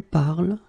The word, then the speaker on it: parles: So it does mean that even if you write them differently, E, ES, and then ENT, you will pronounce them the same way.